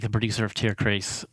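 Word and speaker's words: Tierkreis: like a producer of tier CH uh or tier chist actually that's the correct German pronunciation me zodiac oh it's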